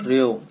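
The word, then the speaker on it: ρ: पी नहीं है बेटा, ये रजिस्टिविटी है, रेओ, ठीक है। क्या प्रोनाउंस करेंगे इसको, रेओ, ठीक है।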